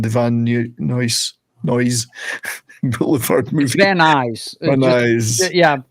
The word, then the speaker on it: Van Nuys: Van Nuys. Van Nuys. Yeah, just say it as one word.